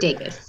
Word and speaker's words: Degas: So it's like Vegas, the city, but with the D. Okay, perfect. Degas.